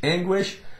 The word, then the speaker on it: anguish: w uh W okay anguish Ang Ang wish anguish squid quality Quality quality anguish well someone is